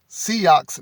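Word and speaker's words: Sioux: this came from brave buffalo of the brulee seahawks nation and i spelled s-i-o-u-x just in case i may pronounce that wrong or say it wrong and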